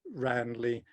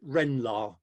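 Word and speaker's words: Ranelagh: the same way and in the village they pronounce it renla so but let's stick with ramly um the um and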